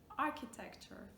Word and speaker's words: architecture: Right, if you say it correctly, you should get architecture, architect. It's not a ch sound, it's not a sh sound, it's not architect, architect.